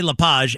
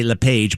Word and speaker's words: LePage: French people say LePage and and and and Americans say LePage, but believe it or